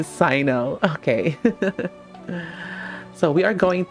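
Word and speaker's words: Cyno: I've been saying his name wrong. It's supposed to be Sino.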